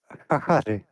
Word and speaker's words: Chachaři: It's should be pronounced hahari.